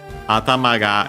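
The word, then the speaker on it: 頭: And then it says uh unsurprisingly considering that uh atamaga it yeah first we have atama I think the accent should be on uh the last syllable.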